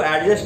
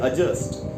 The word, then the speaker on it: adjust: दूसरी बात जो सब बहुत लोग नहीं जानते वो ये है कि इसमें जो डी है वो साइलेंट होता है, इसलिए इसको एडजस्ट नहीं बोल के बोलना चाहिए एडजस्ट।